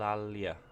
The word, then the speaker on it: Alalia: have Alia Alia oh my God my my pronunciation is gone completely toot Al Al Al al Alia alalia that's right alalia and corales so that's